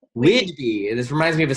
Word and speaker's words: Whidbey: She lives in, pronounce it Whitby? Whidbey. Whidbey.